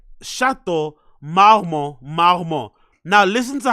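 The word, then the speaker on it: Marmont: pronunciation sh so you heard that right sh Maro Maro now listen to how Brendan pronounces it please listen to how Brendan pronounces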